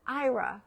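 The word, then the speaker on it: Aira: So, there's an app called IRA. It's spelled A I R A.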